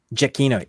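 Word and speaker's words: Giacchino: I had it right before Oh Michael jakino jakino thank you yeah jakino uh his son scores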